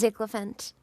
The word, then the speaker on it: Ziglant: No, it's very easy to pronounce my name. It's It's just Ziglant. Okay. Ziglphant.